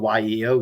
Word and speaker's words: Yeo: It's pronounced just like it's spelled, Y-E-O, Yeo.